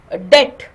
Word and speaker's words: debt: g is silent uh so debt B is silent but that is not